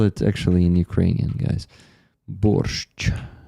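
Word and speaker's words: борщ: Borch that's sh. So this this last letter the Ukrainian ch is is actually in English it will be four letters sh.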